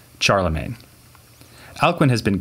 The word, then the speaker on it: Charlemagne: with Charles the great usually known in English by the badly pronounced French version of that name Charlemagne Alcuin has been called